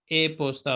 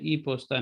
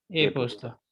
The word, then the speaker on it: e-posta: Telephone होता है और ए पोस्ता होता है, ई पोस्ता नहीं, ए पोस्ता।